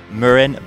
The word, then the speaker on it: Marin: in america a few years ago it is murren bikes but it's not just american brand names